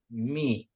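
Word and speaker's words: μι: ya iota kappa lambda mi ya jadi ini jadi mi ya ni ksi bukan miu miu ya bro ha bukan miu itu ya ini mi mi mi ya ini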